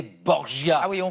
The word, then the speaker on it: Borgia: Alors plus tard quand il s'installe en Italie, la prononciation de son nom change. C'est Borgia. Borgia.